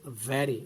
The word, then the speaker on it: very: Very. It should be pronounced very.